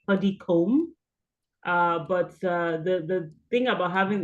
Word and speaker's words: Puddicombe: And just to note, you wondered the pronunciation of my surname is actually Puddicombe.